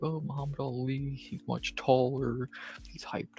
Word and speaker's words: Muhammad Ali: Yes, that's how you're meant to say it, and yes, he is named after that, Muhammad Ali.